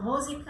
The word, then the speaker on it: Musica: So musica, a lot of Americans say musica, and that's perfectly fine.